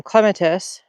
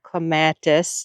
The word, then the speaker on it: clematis: And last year I had planted some clematis or clematis, depending on how you want to pronounce it.